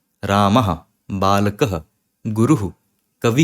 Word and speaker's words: रामः: पर लिखा है रामः तो इसका मतलब यह नहीं है कि राम और हा रामः यह हा नहीं होता है विसर्ग का मतलब बस होता है कि आप जो भी बोल रहे हो जैसे भी बोल रहे हो बस उसके बाद थोड़ी सी हवा और छोड़ देना तो राम या फिर